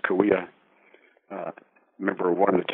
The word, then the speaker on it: Cahuilla: Meyers is a member of the Cahuilla Nation, Cahuilla, pronounced Cahuilla, member of one of the 10 bands of the Cahuilla Nation.